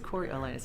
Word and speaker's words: Coriolanus: Coriolanus, that's right.